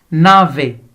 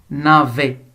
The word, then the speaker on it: navet: Navet. On ne prononce pas la lettre T, mais par contre, on la voit. Navet. Donc, il n'y a pas de son T.